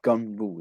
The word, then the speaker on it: Gganbu: It means Gunbu, yeah, which is spelled Gganbu, yeah, and Gunbu really means it's just someone who you tell the darkest secrets to, like your secrets.